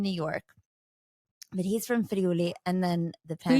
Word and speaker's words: Friuli: my husband in New York, but he's from Friuli, and then the Can you pandemic. say it again? Friuli.